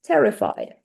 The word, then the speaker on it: terrified: Terrified. What is the stress syllable and students tell me the first one?